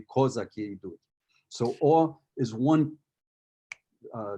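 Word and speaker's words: козаки: traditionally would pronounce it kazaki that's the way you would pronounce it in russian if you were singing a don cossack song but in ukrainian it would be kozaki so or is one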